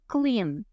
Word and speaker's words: cleaned: verbo infinitivo é to clean e o passado é Clean a gente não pronuncia o e esse e do Clean é mudo Clean cle outro exemplo